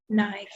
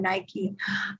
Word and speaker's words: Nike: Nike. Yes, the UK pronunciation. Of course, those of us here in the USA, we call it Nike.